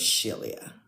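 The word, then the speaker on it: Shelia: So, my name is Shilia and it's spelled S H E L I A.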